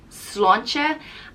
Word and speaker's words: sláinte: crack means any news the next one is cilantra and it's the irish cheers it's what people say when they are toasting with drinks it's pronounced slon che slancha and it translates to health so if someone's